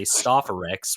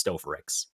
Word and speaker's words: Stofferex: Oh yeah, by the way, it's technically pronounced Stofferex. I know a lot of people say Stofferex, which is acceptable, but the way I see it, it's Stofferex. Okay, I figured. Like I said, when some people ask me, like, oh, how do you pronounce it? Well, it's basically like the word stove, except it's stove and then a Rex.